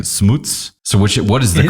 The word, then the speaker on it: Schmutz: because I called you Schmutz for years and then I heard you start saying smoots so which what is the correct way it is our family pronounces it Smooths Smooths and then I'm